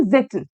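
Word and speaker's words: Tsetan: अब ये सेटन, वो सेटन डेविल वाला सेटन नहीं है। बेसिकली अलग अलग जगह के जो प्रोनाउंसिएशंस होते हैं बेटा अलग है, तो ये सिमिलर टू जिटन इस तरीके से है, ठीक है।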